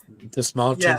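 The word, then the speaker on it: Dastmalchian: He said the small chin, like you're saying him. Pointing to your chin.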